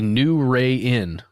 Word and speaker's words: Nuwrayin: Smitty also let us know a story about another place where he grew up, called the New Ray Inn. Now it's spelled Nuwrayin. It's the New Ray Inn.